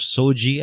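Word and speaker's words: SOGIE: explained the meaning of so gee I believe that's how you pronounce it SOG ie we get into in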